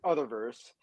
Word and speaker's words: Utherverse: so um it's it's Uther verse is that correct Uther verse I just want to make sure I say it right okay so I pronounce it other verse but there has been